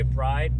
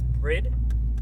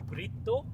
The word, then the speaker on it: BRIDE: inside right here so a lot of guys will say bride but it's bread and in Japanese it's actually Brito so in Japanese when